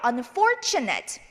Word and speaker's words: unfortunate: 그래서 두 음절 전으로 가셔서 여기에다가 강세를 주시면 됩니다. 그래서 unfortunate 이렇게 읽어주시면 되겠습니다. 한번 읽어볼게요. unfortunate.